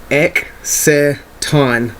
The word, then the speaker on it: Exciton: The proper pronunciation for this card is Exciton. It's Evilswarm Exciton Night.